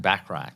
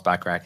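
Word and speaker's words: Bachrach: you say that back I'm saying backrack backrack like Bert backrack like Bert backrack uh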